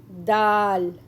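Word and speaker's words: د: Next letter is Dal. How to read it? Dal. It sounds like D in English.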